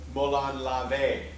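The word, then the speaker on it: Molon labe: some research on it, how do you say this? Molan Labe. Yeah. Or apparently there's an older Molan Lave. I guess it depends on the era of Greek or whatever.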